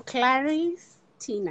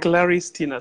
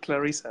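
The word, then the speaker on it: Claristina: I'm Claris Tina. Claris Tina. So it's not Clarissa.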